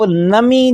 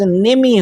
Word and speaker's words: نمی: نیچے ہمیشہ زیر ہوگی، اس لفظ کو آپ نمی جو ہے بالکل تلفظ نہیں کریں گے، بلکہ اس کا تلفظ نمی ہوگا، نون کے نیچے زیر پڑھیں گے۔ اگر آپ نون کے